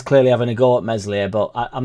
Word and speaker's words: Meslier: the live several times meslier silent s just needs to it's